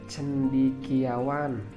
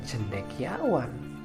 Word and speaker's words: cendekiawan: Kemudian kata cendikiawan, seharusnya kata cendikiawan itu penulisannya cendekiawan, pengucapannya juga cendekiawan.